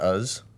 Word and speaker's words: Uz: So he's You pronounce not, it Uz? Uz, yeah. Uz. Uz. It's like Oz.